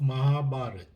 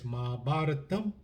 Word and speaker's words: Mahabharata: In the southern part of India, it's Mahabharatam with an M. In the northern part, it's Mahabharat or Mahabharata.